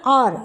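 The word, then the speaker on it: hour: Cost 80 1 किग्र note the एच इन आर is silent और में H silent है।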